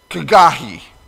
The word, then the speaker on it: Haggai: According to Strong's pronunciation, the H is like a CH sound, kind of like German. Anybody that's taken German, they have this kind of sound that they use all the time. So it's Kagahi is how Haggai is pronounced.